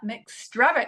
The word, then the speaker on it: McStravick: Welcome to the show, McStravick.